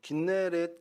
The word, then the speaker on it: 긴네렛: 북쪽 이곳이고 이곳은 구약에서는 납달리 지파 땅이었습니다 어 긴네렛 기네 이렇게 여러 가지로 이제 불리고 있는데 어쨌든